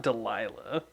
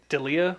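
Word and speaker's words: Delia: does is it uh it's not delilah i i think that is how it's spelled delilah d-e-l-i-a is that deleted dalia dalia i was close i always grew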